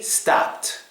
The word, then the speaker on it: stopped: Or for the next one, it would be stopped.